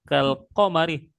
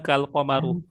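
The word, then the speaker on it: كالقمرِ: anti qar husni anti kamu wahai perempuan kalqamari seperti rembulan fil husni ya dalam hal kecantikan gitu ya jadi k di situ artinya seperti nah itu harus Jar juga. Makanya qamarnya dibacanya alqamari ya. Kalqamari bukan kalqamaru.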